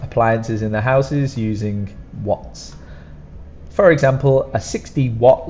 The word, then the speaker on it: watt: 60 watts now what the pronunciation is exactly like the question what but that one we use within H this one we don't have H because again it's someone's name so what and then a Double